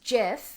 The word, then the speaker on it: GIF: after again mouse it's it's jiff not gifts looking to get the